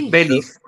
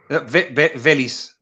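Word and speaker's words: Véliz: There's the Z's in Spanish, in Spanish, right, from Spain. The Z's are th. Oh, so okay. So it's Beliz. Oh, Beliz. Beliz. Yeah. So you've got like an accent on the e, so it's Beliz. But the Z's. So it's Beliz. But then the Z's in South America, they pronounce them like an S.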